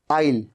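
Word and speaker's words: I'll: और यह जो आईल है यह आई विल का कॉन्ट्रक्शन है। तो आप कभी भी आई विल कॉल यू। नहीं आपको कहना है आईल।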